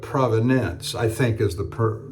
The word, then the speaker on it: provenance: All the brush strokes match up to a Rembrandt, but we can't prove the provenance, not providence, like divine providence, but provenance, I think is the correct pronunciation.